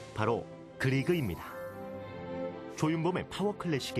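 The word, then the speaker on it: Grieg: 그 이룰 이름이 그리 우리가 면도기로 발음으로 크리크 라고 얘기하고 또 에드바르트 뭉크 리 큰 뭐 이렇게 부르기도 하지만 보통 우린 교과서에 있는 대로 얘기라면 그리그 라고 부릅니다 이 사람은 사실 자꾸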